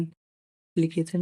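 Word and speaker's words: application: एप्लीकेशन A double P एल आई सी के टी आई ओ एन एप्लीकेशन में ए के बाद डबल पी आया है। इसीलिए इसमें ए का उच्चारण शुरुआत में छोटा आ होगा।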